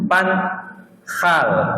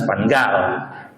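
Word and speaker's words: van Gaal: mana tu dari Belanda itu bacanya Luis Van khal bukan Luis vanal Kak bagi yang bagi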